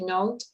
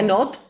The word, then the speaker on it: knot: when you make a note and not no no no careful no not exactly note i'm sorry note this is not not note this is not the same okay not not named